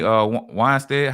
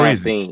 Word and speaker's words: Weinstein: Harvey Weinstein, how you say his name? He's in prison. Weinstein.